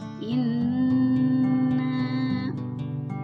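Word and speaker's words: إِنَّا: Kemudian selanjutnya dalam kalimat inna ada nun di tasydid, itu disebut dengan gunnah atau dengung. Cara membacanya ditekan inna.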